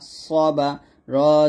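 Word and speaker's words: صَبَرَ: এটা হবে সাদ জবর স, বা জবর বা, সবা, র জবর র, সবার।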